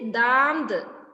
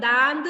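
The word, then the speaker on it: दांत: ആംഖ് means I കണ്ണ് next ദാംത് ദാംത് നമ്മൾ അങ്ങനെ തന്നെ പ്രൊനൗൺസ് ചെയ്യണം അല്ലെങ്കിൽ നമ്മൾ ദാന്ദ് എന്ന് പറയുമ്പോൾ ദാ എന്ന് മാത്രമേ നമ്മൾ എഴുതുകയുള്ളൂ ദാംത് അങ്ങനെ തന്നെ ആദ്യം പഠിക്കണം ദാംത് എന്ന് ദാം എന്ന് പറയുമ്പോഴേ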